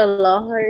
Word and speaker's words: lahar: Is that what a lahar is, or however you say that?